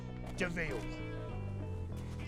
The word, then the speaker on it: de Vil: He's spelled devil, but it's pronounced Deville.